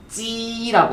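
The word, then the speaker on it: 鸡: 혹 발음 시작 혹 그다음에 개 어 닭은 찌라고 하시면 돼요. 발음 시작 찌 여러분들 그 김밥 말 때 안에다가 넣는 그 계란을 뭐라 그래요? 보통 지단이라고 하죠. 네. 그게 왜냐면 닭의 알이기 때문에 중국어로 계란을 실제로 정말로 찌단이라고 표현을 합니다. 그래서 그 찌단은 진짜 중국에서 온 표현이다라고 얘기를 하는 그런 속이 있더라고요. 그래서 찌라고 하시고요.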